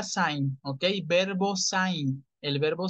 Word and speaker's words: sein: En infinitivo se pronuncia sein, ¿ok?